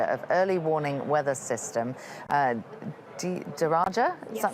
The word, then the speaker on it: DARAJA: Well, joining me now here in the studio is the Program Manager of Early Warning Weather System, DARAJA, is that how it's pronounced?